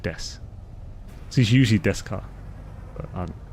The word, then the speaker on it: Desu: of death or well it's spelled Desu but it's just generally said death he's usually death car